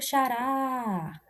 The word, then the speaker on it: xará: Para descobrir isso, tem um macete muito simples, que eu posso falar assim: olha o xará, olha o xará. Tá vendo que eu puxo mais, eu demoro mais na última sílaba?